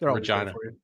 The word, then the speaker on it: Regina: Like Regina. Rhymes with fun.